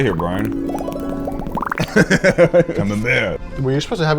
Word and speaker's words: Camembert: We got some fancy cheese, which is pronounced Camembert.